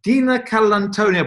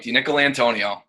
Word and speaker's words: DiNicolantonio: James DiNicolantonio, but I've probably pronounced that wrong, James. How should I pronounce your name? You got that right, DiNicolantonio.